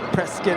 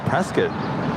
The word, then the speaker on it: Prescott: Prescott, Arizona. Is that Prescott? Prescott, Arizona, and their Whiskey Row. Old country, western town-ish. Very cool. Really? The CRJ is coming from Prescott?